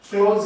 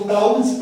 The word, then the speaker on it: clause: और इसको अपन क्लोज कहते हैं। कई लोग इसको क्लाउड्स पढ़ते हैं, क्लाउड्स। इट इज नॉट क्लाउड्स, ये क्लाउड्स नहीं है।